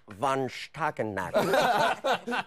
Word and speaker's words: von Stuelpnagel: It's pronounced von Stuelpnagel.